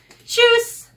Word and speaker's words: Tschüss: How do you say it? Tschüss. Cheers. Tschüss. Tschüss. That's how they say it in Germany.